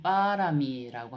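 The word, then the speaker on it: pāramī: 그러니까 빨리어로는 빠라미라고 합니다. 그래서 요걸 빠라미라든지 빠라미타라든지 이제 빨리로는 빠라미타 그리고 보통 산스크리어터로 읽을 때는 파라미타라고 이제 이렇게 발음하게 되죠.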